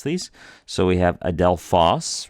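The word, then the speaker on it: ἀδελφός: these so we have Adel fos right ad Del fos and we're trying to put a little more emphasis on that last syllable it's a little bit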